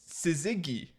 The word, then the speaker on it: syzygy: siy wait let me see if I can spell that s i z no oh no sorry SI sizigi sizigi sizigi yeah s i no s y